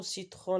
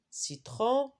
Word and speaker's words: citron: c'est quoi citron ananas dans le mot citron la lettre n on ne prononce pas mais dans le mot